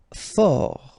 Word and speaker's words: fort: Fort, final T not pronounced.